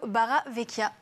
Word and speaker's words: Barravecchia: moi cette semaine Mario baraveekia bonjour Mario bonjour Malica cette fois-ci c'était correct la prononciation du nom de famille tu es chanteur